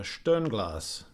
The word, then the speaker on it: Sternglas: Hey everybody, let's take a look at two different watches from Sternglas, or I think it's pronounced Sternglas, if my German um, if my German is correct.